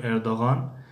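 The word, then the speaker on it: Erdoğan: مثلا در کلمه در نامی اردوغان خودمان اردوغان میگیم یا اردوغان، مثلا همین حرف هست، اما در زبان ترکی اردوغان یا که قریب که تلفظ نمیشد، اردوغان یعنی قریب که تلفظ نمیشود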